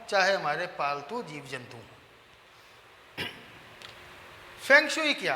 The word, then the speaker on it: फेंग शुई: अब इसके साथ जो दूसरी कॉमन चीज चलती है वो है ये, जो इसकी एग्जैक्ट प्रोनाउंसिएशन है वो है फंग शुई, और हम इसको इंडिया में कहते हैं फेंग शुई, पंजाबी में कहते हैं फेंग शुई।